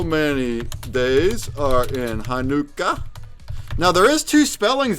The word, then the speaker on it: Hanukkah: correct and that's because in Hebrew it's pronounced Hanukkah Hanukkah oh there's lag well